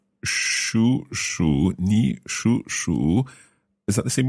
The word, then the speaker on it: 属鼠: However, remember we have two third tones together. The first third tone becomes second tone.